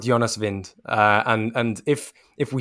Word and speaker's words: Jonas Wind: do the honors well i believe it says uh vind but you can never really know with these uefa pronunciation guides they can tend to be a little bit a little bit dodgy but we'll go with vind i think we'll go with jonas vind and and if if